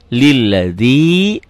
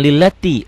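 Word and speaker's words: الذي: orang banyak wabija wabal walika UM pakai laattin bacanya lihat Allahu akbar Kabir walhamdulillahi jangan ka ya ganti denganhanallah Jim inni wajjahtu wajhi lilladzi bukan lillati lilladzi fthoros jangan fataras ya fthoros samawati Wal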